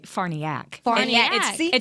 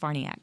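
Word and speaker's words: Farniok: don't play about names Matt it's actually uh farniac it's with an o f a r n i okay but it's pronounced farniac that's literally what I wanted yeah well Matt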